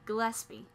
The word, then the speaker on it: Gillespie: you can louis armstrong dizzy gillespie did i say it right that's not right dizzy gillespie gillespie there you go oh it's super locked